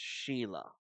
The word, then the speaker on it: Xi'laa: course our Vitality Mage now I know that spelled funny but it is pronounced Sheila Sheila Oran of Genesis she's